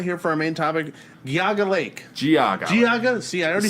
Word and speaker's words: Geauga: if we're finally here for our main topic, Geauga Lake. Geauga. See, I already screwed it up. Yeah, it's a complicated name. It's spelled Geauga.